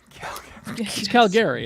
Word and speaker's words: Calgary: begin filming soon in Calgary Canada Calgary isn't it yeah that's right that you say that's how you say it right yeah yeah uh that's